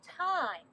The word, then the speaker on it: thyme: is your other herb it's called thyme t-h-y-m-e just like time when you watch is spelled differently times another herb it's